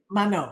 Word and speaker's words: Manon: Am I pronouncing your Manon, yeah.